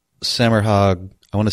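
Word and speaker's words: Semirhage: Semerhag. The H is silent.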